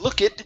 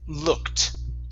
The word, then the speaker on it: looked: e in this case the e d is pronounced like a t so instead of look it it's looked looked looked there you